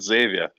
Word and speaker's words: Xavier: He's called Xavier.